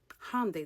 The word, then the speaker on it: Hyundai: Hyundai. That's how you pronounce it.